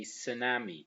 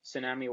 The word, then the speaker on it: tsunami: is very important because we don't pronounce the T the T here is silent to say tsunami tsunami of course it was